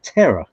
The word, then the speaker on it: Tara: Well, it's funny though because it's spelled Tara in English. That's Tara, but she calls herself Terra. Tara. That's right. Because I always feel like I'm saying it wrong. because terror should be Tera, not Tara.